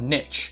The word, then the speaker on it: niche: Once I can get past the pronunciation of niche, which should be niche and should be pronounced as niche, due to it being a French-derived word.